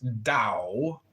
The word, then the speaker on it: Tao: The word Tao, properly pronounced Tao, has lent its name to a way of understanding and living in the world with profound implications for modern societies.